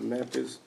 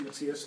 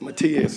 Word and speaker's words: Matthias: Mr. Memphis, I think that's what it says. Apparently my handwriting is, first off, my name is Matthias. How you Yacht pronounce that? Club Road. Matthias. Matias, sorry about that.